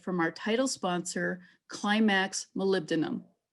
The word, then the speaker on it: molybdenum: before me it's pronounced molybdenum hi i'm tammy molybdenum hey guys it's wyatt it's pronounced molybdenum i think what is molybdenum you know if you break it down molly denim i would have chosen